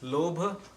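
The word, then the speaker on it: लोभ: So, greed is lobha. How do you spell that?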